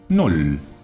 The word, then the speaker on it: Null: Null. Null. Null. Aquí vemos claramente que la doble L, aunque tampoco es demasiado característica en el alemán, se pronuncia como una sola L. Null.